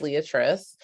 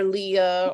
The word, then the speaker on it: Leatrice: very common name but my name is leatrice it's pronounced leatrice um or Leah or um but I just I